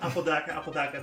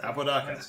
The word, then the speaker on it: Apodaca: This is Apodaca, that's how it's pronounced. Apodaca, yes.